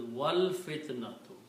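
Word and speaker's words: وَالْفِتْنَةُ: When you read with the waw in the beginning, you do not pronounce alif, so it is wal fitnatu.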